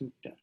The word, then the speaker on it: sukta: In Bengal, it's spelled like that, but it says sukta.